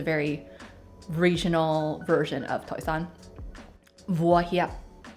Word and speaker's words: 锅贴: Okay, for a mini Chinese lesson, here's how you would pronounce pot stickers in Cantonese. 锅贴, 锅贴. And in Mandarin, it's 锅贴, 锅贴.